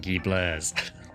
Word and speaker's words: Gibbles: It's spelled Gibbles, but it's pronounced Giblers.